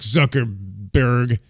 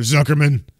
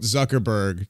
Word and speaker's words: Zuckerberg: be Undertaker versus Mark Zuckerberg, I think, or Zuckerman, or whatever, at WrestleMania 39. What the hell's his name? Is it Zuckerberg? It's Zuckerberg. Oh, okay. I was like, did I say it wrong too?